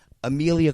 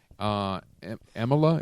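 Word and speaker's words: Emilia: Real quick, it is Emila. Is that how it's pronounced? Amelia.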